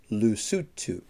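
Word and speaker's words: Lesotho: we have lutu lutu it doesn't look like it's spelled that way but it's pronounced lutu next we have Madagascar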